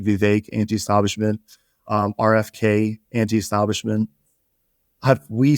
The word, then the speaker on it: Vivek: And he was like, "Vivek." Like cake. That's what he said.